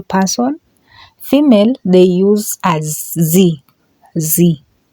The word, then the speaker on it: sie: Female, they use as sie. Sie. Just like in English, she, but in German, it's a sie. Get the difference in pronunciation and the spelling.